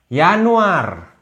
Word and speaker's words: Januar: bahasa Indonesia guys nih sekali lihat Yanuar Yanuar sama Januari mirip pool sapole Yanuar Februari